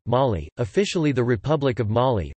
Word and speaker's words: Mali: Mali, listen, French pronunciation, Mali, officially the Republic of Mali, French, République du